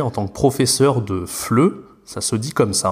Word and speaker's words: FLE: dire français langue étrangère je sais qu'il ya beaucoup de gens qui pensent que ça se dit est faible et moi j'étais le premier à le dire au tout début en fait on va prononcer les trois lettres ensemble et donc ça se dit fle on peut faire la